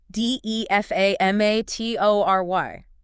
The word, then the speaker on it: defamatory: Defamatory. That's a longer one. It is. Defamatory. Defamatory. The stress on the second syllable. 5 syllables.